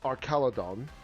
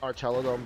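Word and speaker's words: Archaludon: Um, most moves on cannot hurt um, Arcaladon. I know it's pronounced Archaladon, but you know.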